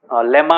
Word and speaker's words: lemma: सर लामा। लामा नहीं, वो तो एनिमल है, वो नहीं, लेमा, लेमा बोलते, लेमा। सर मैं भी वही सोच रहा था। हाँ लेमा, this is the spelling, LEMMA।